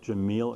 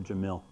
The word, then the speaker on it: Jamil: Do you like Jamil or Jamil? Both is fine. Oh. Both are fine. I'll alternate. Just not Jamal.